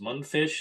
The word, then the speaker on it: Mundfish: Mundfish is amazing. I hear people pronouncing their name wrong. M u n d f i s h Mundfish.